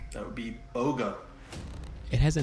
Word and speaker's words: Boga: i don't know its name that would be boga it has a name you did a pretty good job pronouncing that that is correct for two points